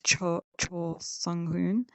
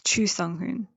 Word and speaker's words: Choo Sung-hoon: I thought it was Cho Sung-hoon, but it's Choo Sung-hoon, I believe.